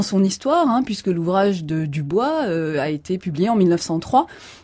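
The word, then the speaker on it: Du Bois: s'appelle William Edward Burghardt Dubois ou Dubois, et notamment son ouvrage important. Ça s'écrit comme Dubois en français, mais voilà. En deux mots, mais comme il est américain, on dit prononce parfois Dubois.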